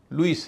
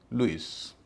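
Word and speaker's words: Lewis: एस इसे कई लोग लेविस कह देते हैं लेकिन यह लेविस नहीं है लुईस है एल ई डब्ल्यू से लू आई एस से इस लुईस एल ई डब्ल्यू इसमें भी एल इ डब्ल्यू का उच्चारण ल्यू होगा।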